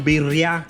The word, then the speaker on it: birria: burrito taco or chicken biryani taco you gotta roll your tongue with it double ours hopefully i'm saying it